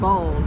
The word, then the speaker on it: boiled: loves boiled peanuts and he pronounced it bald peanuts not boiled a lot of people